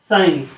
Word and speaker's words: sign: क्या हुआ, ये हुआ रेन, जी यहाँ पे साइलेंट है। RESIGN, रिजाइन, SIGN, साइन।